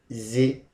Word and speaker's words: visited: So how do you pronounce it? We say it should be pronounced with id. So if I want to pronounce this, first let's try the pronunciation. It's going to be visited.